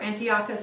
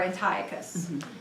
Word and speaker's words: Antiochus: a historical figure that, depending on how you pronounce it, is either Antiochus or Antiochus.